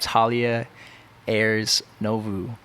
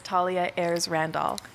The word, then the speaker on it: Thalia Ayres Randolph: sitting to the right of me i got talia ayers novu that's how you say right no oh wow i butchered it right off the right off the